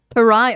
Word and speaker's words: pariah: Pariah.